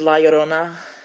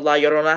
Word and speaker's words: La Llorona: Okay, I also did La Llorona, and I've been looking at it all day, and I knew for years that the 2 L's in Spanish words make a Y sound, but no one pronounces it that way.